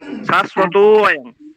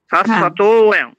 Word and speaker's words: শাশ্বতং: অটাও আর আসবে না শাশ্বতং শাশ্বতং এরকম উচ্চারণটা হবে আর মানে ওই তটাইও একটু দীর্ঘ হয়ে যাবে আচ্ছা আচ্ছা